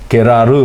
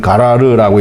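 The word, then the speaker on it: גרר: 히브리어 발음으로 하면 게라르 혹은 가라르라고 이렇게 얘기를 하는데요.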